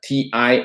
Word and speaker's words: TIFA: and Investment Framework Agreement negotiations called the TIFA TIFA is how to say it is the United